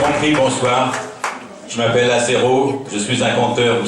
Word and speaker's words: Azéro: Je m'appelle Azéro, je suis un conteur, vous savez devant vous le conteur Azéro.